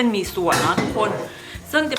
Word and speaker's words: หมี่สั่ว: มี ส่วน นั่น เอง มี ส่วน หรือ มี ซั่ว กัน ออก เสียง ของ ภูเก็ต จะ เป็น มี ส่วน แล้ว ทุก คน ซึ่ง